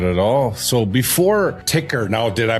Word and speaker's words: TYKR: So before ticker, now did I pronounce that correctly? Ticker. That's you did like like a ticker symbol on a roll stock market.